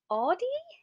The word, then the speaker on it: Audie: So So my next one is Audie? Is that Audie, how you pronounce her name?